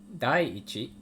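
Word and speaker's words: 第一: is going to be like this which is pronounced dai dai ichi and this is not hana say in this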